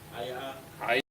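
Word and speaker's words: היא: It's in the same vein. It rhymes with Hawa'a. Haya'a. All right? Amar. Right? Okay? So Haya'a Amar is how we know that it is saying she said.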